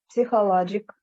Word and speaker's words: psychological: i uh i knew that in psychological psychological science psychological psychological the p is silent it means that that